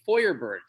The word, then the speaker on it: Feuerberg: It's not supposed to be Feuerberg. It's supposed to be Feuerberg. See how when you say Feuerberg, it makes sense to spell it F-E-U-E-R when you say Feuer.